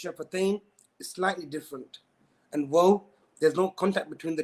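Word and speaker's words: و: the dry parts, mim, and then waw is a circular fashion when pronouncing. Again, ba and mim, the makhraj, even though it's shafatain, is slightly different. And waw, there's no contact between the two lips.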